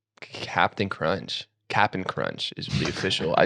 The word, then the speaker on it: Cap'n Crunch: Cap'n Crunch is the official. I just realized it's not Captain. It's not Captain Crunch. It's Cap'n.